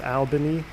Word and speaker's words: Albany: man early morning no one ever pronounces that right it's albany what i say albany